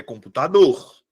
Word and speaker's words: computador: eu faço em seguida identifico qual dessas vogais é pronunciada com mais força computador Qual é a que eu pronuncio com mais força tá aqui minha sílaba tônica é computador ou é computador é computador a minha sílaba tônica